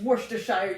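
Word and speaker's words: Worcestershire: like a worshshire goes it's worshshire you dummy no wire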